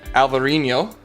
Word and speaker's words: Alvarinho: In Portugal, it's called Alvarinho. Oh, didn't focus. And in Spain, it's called Alvarinho. Same grape, just two slight variances in pronunciation.